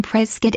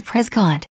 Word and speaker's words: Prescott: Locals usually pronounce the name Prescott as opposed to Prescott.